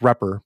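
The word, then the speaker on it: __repr__: into video courses was the one that is pronounced repper but it's double underscore r e p r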